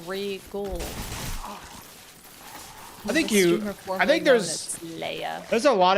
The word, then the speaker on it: Regole: I should pronounce it more like Seagull or Regal.